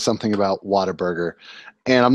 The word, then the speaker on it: Whataburger: And says something about Whataburger.